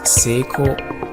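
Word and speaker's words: 成功: chinese it's pronounced chong kong in japanese it's pronounced seiko here's another example with chinese and korean the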